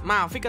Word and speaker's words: Marvic: Terus Mavic atau Marvic ya? Mavic kayaknya, guys, ini, guys. Marvic sih atau Mavic ya? Marvic lah bacanya itu ya.